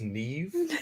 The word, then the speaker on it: Niamh: the um sorry it's it's pronounced Neeve full things oh and it's just